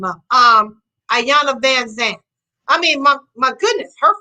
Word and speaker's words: Van Zant: i say what's up debbie von zaunt but that's not her name her name is van zandt now how how would